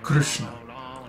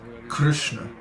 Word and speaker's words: Krishna: But actually, the way it should be pronounced is Krishna, Krishna.